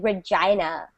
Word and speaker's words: Regina: it's written exactly as your name and we pronounce it Regina really what in honor yes it's and it's